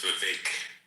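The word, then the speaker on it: Vivek: Vive actually said this uh he said if you want to pronounce his name properly, just remember cake. So, it's Vake.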